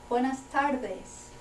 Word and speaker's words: Buenas tardes: Okay, soften that D a little bit. Buenas tardes.